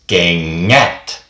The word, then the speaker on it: kengät: how to pronounce it, when it comes to the NG part, think of the word in English, sing. Like singing, just sing. The NG in that sounds exactly the same as it does in Finnish.